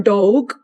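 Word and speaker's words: Dogue: quite frequently I hear the term dog, which is spelled D O G U E or D O E G.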